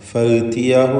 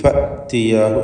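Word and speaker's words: فَأْتِيَاهُ: ഫഅ്തിയാഹു എന്ന് പറയാൻ പറ്റുകയില്ല. പലപ്പോഴും ആളുകൾ തെറ്റായി ഫഅ്തിയാഹു പറയും. അത് ശരിയാക്കുക. ഹംസ ഷിദ്ദ എന്ന സിഫത്തുള്ള അക്ഷരമാണ്, ഷിദ്ദത്തിൻ്റെ ഹർഫാണ്. അതുകൊണ്ട് കടുപ്പത്തിൽ ഫഅ്തിയാഹു എന്ന് പറയണം.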